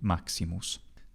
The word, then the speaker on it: Maximus: like Caesar recommended so one can certainly pronounce the Sonos medius if you want but it's I think perfectly correct to say it as a normal e sound Maximus especially given what happens in